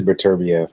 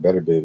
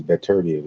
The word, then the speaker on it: Beterbiev: So it is Beterbiev. I've been saying it wrong. I said Beterbiev. It's Beterbiev.